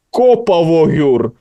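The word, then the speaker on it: Kópavogur: Я теж начебто з'ясував, але там є якісь виключення в їхній мові, тому є, тому що Брейдаблік представляє місто Копавогюр і там наголос на букву О.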